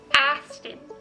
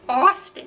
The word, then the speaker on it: Austin: But then there's something like Austin, like the name Austin is ah, not ah, you know? So like if you were thinking of how to spell it or how to like pronounce it, you're gonna pronounce it differently. You're gonna be like Aston, but it's not, it's Austin, right?